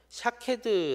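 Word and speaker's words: שָׁקֵד: 나무는 뭐라고 어 있냐면 샤 캐드 라고 읽었습니다 샤 케드 라는 게 아몬드 나무 를 뜻하는데 이 말이 어 지키다 라는 샤 카드와 어 자음이 똑같습니다 히브리어는 자음 만 쓰기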